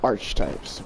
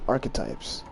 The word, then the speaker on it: archetypes: I accidentally always mispronounced it as archetypes, but it's actually archetypes.